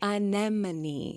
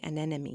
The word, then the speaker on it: anemone: Anemone. I think I always want to say anemy and that is incorrect.